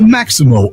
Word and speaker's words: Maxymo: The Maximo app, which is spelled Maxymo, it helps Uber, Lyft, and Grubhub